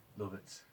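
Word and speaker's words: Lovat: Like the first 60 pipes I made, like English, you know, loads of like Canadians, Billiers, Lavats, all that. Is that how you pronounce it? Love it. Lovets.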